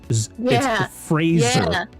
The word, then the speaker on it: Fraser: It's Fraser, not Fraser. Rhymes with razor.